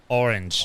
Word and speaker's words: orange: Orange. Orange. It's 2 syllables.